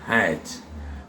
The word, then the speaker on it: hat: Le A ici se prononce AE. Donc on dit hat.